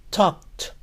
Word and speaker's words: talked: Recuerden que la L en esta palabra no se pronuncia. Termina en sonido K. ED suena T. Talked, talked.